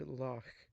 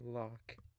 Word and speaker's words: loch: Ch fell in most situations except in the word loch, the pronunciation with ch deemed acceptable in that word, though it competes with the regular loch.